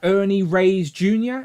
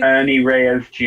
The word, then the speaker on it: Ernie Reyes Jr.: I think the likeness for the actor Ernie Reyes Jr. Is that, am I saying it correctly? Ernie Reyes Jr.